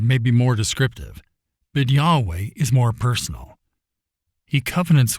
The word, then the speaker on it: Yahweh: caps the Hebrew on the other hand is pronounced Yahweh and is based on the term for I